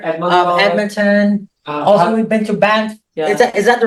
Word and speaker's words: Banff: Also, we've been to Banff. Yeah. Is that the right pronunciation?